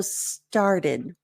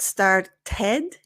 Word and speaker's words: started: with started so started notice here it's not started so we do have more of a flap T so it's not a TT but started started started and this is where the schah kind of helps you keep the mouth shape that's necessary for a more accurate sound so if you're going